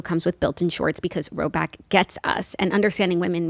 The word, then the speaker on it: Rhoback: The colors are unreal, the vibe is immaculate, and if you haven't peeped the new Roback yet, this is your sign.